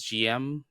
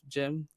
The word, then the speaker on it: GM: I was just about to mention that where we might go to a war here, colony war, because I pronounce it as GM instead of Jim.